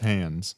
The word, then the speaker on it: Hans: It's pronounced Hans.